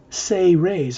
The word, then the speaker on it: Seres: It says the Seres Agenda. That means Seres, spelled S-E-R-E-S, is pronounced Say-Rays, as if it was spelled S-A-Y-R-A-Y-S.